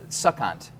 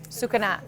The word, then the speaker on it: Sucanat: Well, what's a succant, right? Or succinant, right? Yeah. I'm sorry, I shouldn't be able to pronounce that. What's that? Sucanat. Succinant.